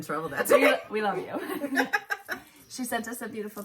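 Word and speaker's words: Yoo: Okay, so her name is pronounced Yo, as in yo-yo, she said.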